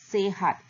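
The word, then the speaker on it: sehat: ஸோ சய சேஹாட். அங்கே எஸ்ஐ போட்டிருந்தாலும் அந்த நீங்கள் வந்து அதை எஸ்ஐ சீனு படிக்கக்கூடாது. நீங்கள் எஸ்இ இந்த ப்ரொனான்சியேஷனில் சே அப்படி சொல்லணும்.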